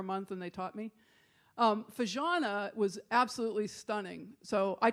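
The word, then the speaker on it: Fažana: little map here called fajana i do know that that's how you pronounce the z because i was there for a month and they taught me fajana was absolutely stunning so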